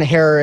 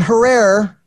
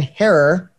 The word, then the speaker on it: Herer: to get a chance to know who Hare is. Not Herrera, Hare. Most people have a misconception of how to pronounce his last name.